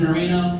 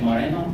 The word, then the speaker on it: Marino: So my last name is Marino. Sometimes people say it wrong. They say Moreno. They think I am Hispanic. I am not.